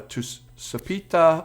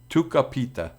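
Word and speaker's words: Tucupita: we do have uh to sapita Marcano uh no it's Tuka he's Venezuelan so that's not a soft C that's Tu capita that's the uh oh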